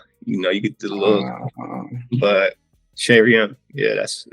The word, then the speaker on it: Chez Rien: So how do you pronounce it again? So it's Chez Rien.